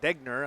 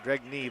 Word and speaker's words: Degner: And like you said, though, I'm trying to think how you say it. Degner. I always want to say Dregny, but that's because I'm too much from the Westby area.